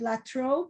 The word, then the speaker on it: La Trobe: Before this, he taught at the Sydney University and I don't know if I'll pronounce correct, but La Trobe University, Melbourne.